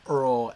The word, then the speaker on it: Eorl: Should we be using the Wessex pronunciation to pronounce the diphthongs? Or should we use the Mercian pronunciation Tolkien himself preferred as a native of the Midlands, saying Eorl as Earl and Merk as Mark?